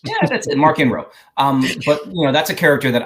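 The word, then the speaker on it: Marchion Ro: For pronouncing it the way it needs to be pronounced. Yeah, that's it, Markian Ro.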